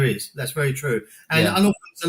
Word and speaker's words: Unorfadox: So that's why it's called Unorthodox, Yeah. South East London, you don't pronounce the T and the H, Exactly.